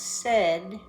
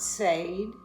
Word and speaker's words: said: last form is pronounced said not say and it sounds very much like set we got in the